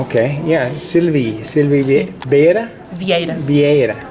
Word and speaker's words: Vieira: Vieira. Vieira.